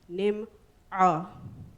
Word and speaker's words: Nimo Farah: Use your throat. Speak to me in my mother tongue. Endear me with the following words. Ga'aliso ma'anto. Quruhlay, say my name the right way. Nimo Farah.